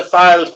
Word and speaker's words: Fylde: Firstly, can I say it's the Fylde Peninsula? The what peninsula? Fylde. It's The Fylde pronounced.